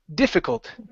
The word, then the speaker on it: difficult: okay in so so instead of G difficult it's D difficult difficult that's how you say it okay just like that